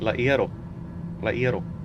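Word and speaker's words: El Hierro: The H in Laero. The name of the metal is derived from the F of Latin, ferro. And when you say in Spanish, H is silent.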